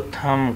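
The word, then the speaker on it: thumb: हाथ के अंगूठे को थम कहेंगे टी एच यू एम बी थम बी साइलेंट के साथ बोलेंगे रिमेंबर थम और इसी तरह इसको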